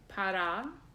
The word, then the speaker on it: para: is the mantra so ohm is yes pada pa RA but it's a long a at the end translates as supreme or